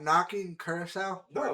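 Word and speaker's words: Curaçao: Caruso or something? No, that's not correct. Curacao. Curacao, that's it.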